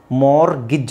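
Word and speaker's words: mortgage: silent ಮಾಡಬಹುದು ಬಿಡಬಹುದು ಬಟ್ ಟಿ ನ ಸೈಲೆಂಟ್ ಮಾಡ್ಲೇಬೇಕು ಮಾರ್ಗಜ್ ಅಂತನಾದರೂ ಹೇಳಿ ಮಾರ್ಗೇಜ್ ಮಾಗಿ ಇಲ್ಲಿ ಜಿ ಎ ಎ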